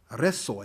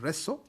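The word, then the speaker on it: Rzeszów: nearby town town of resso i think it's pronounced reso and a number of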